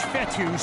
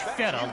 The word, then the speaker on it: Fetu: before he's tackled so coach fetus spelled f-e-t-u for the longest time I was pronouncing it coach feta like Feta cheese so let's just say